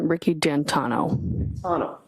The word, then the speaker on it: Ricky D'Antuono: How do you pronounce the name? It's Ricky D'Antano.